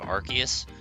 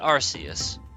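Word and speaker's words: Arceus: system is because of archus that confirms it's pronounced archus not arus hot dog I was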